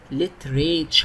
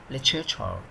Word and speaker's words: literature: literature نطقها غريب شوية، بياخد دي شوا عشان يديها شا، literature يعني نطقها غريب شوية. عاوز انت تقول بقى literature عشان تعرف تكتبها ماشي، لكن النطق الصحيح literature.